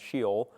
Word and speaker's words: Sheol: I'm pronouncing this correctly, but I think it's pronounced Sheol.